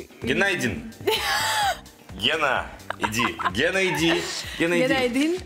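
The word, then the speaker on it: günaydın: Геннадин. Гена. Иди. Геннадин. Это звук очень между У и Ю. Геннадин. Почти good night.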